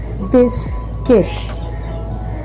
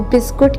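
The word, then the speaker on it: biscuit: सबसे ज्यादा जो मिस्टेक सुनने में मिलती है वो नंबर सिक्स में है। ठीक है? अक्सर लोग बिस्कुट कहते हैं बट इट्स नॉट बिस्कुट।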